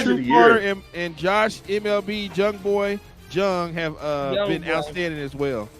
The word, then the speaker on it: Jung: Carter and Josh MLB Jung have been outstanding as well. MLB Young Boy. It's not pronounced Young. It's Young Boy. Oh, I'm sorry, Young Boy. Excuse me. The J is The J is silent.